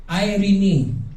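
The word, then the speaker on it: Εἰρήνη: Irene yan po ang kanyang pronunciation.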